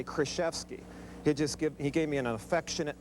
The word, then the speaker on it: Krzyzewski: I'm Mike Krzyzewski. Coach Knight has never pronounced my name right. It's always Krzyzewski, or when I played for him, he gave me an affectionate name.